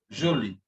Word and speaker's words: jolie: Jolie. Jolie means beautiful or pretty. We are adding an E, but the pronunciation remains the same because there is no problem. It is jolie.